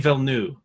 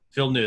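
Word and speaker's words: Villeneuve: last year yeah it is denis it's denis villeneux phil knew there you go phil oh damn well yeah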